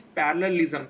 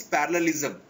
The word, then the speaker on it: parallelism: I pronounced it is parallelism parallel in mathematics the word is parallel is there so it is parallelism Carl is not uh